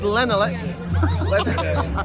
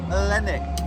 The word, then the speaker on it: Lennick: Here I am with this fabulous actor, David Lenelick. One day you'll get it right. Okay, mate, what is the correct pronunciation of your surname? Lennick. Lennick.